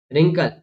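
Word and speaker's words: wrinkle: डब्ल्यू का देखिए, डब्ल्यू के बाद अगर आर आ जाता है और डब्ल्यू स्टार्टिंग में आ रहा है तो यहाँ पर भी डब्ल्यू को प्रोनाउंस नहीं करेंगे। जैसे कि wrong, rest, right, रिंकल, रैप, रॉट, आपने देखा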